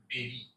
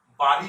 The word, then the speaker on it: bury: BUROY এর প্রকৃত উচ্চারণ হবে বেরি, বেরি। বাড়ি নয় বা বুড়ি নয়, ভুল করে বুড়ি বলে ফেলি আমরা।